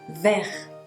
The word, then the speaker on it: vert: ce niveau or jaune jaune amarilla jaune du vert moi j'ai les yeux verts vers telle ressource baisse vers vous a réussi deux majeurs vert vert vert vert vers quel point les sonars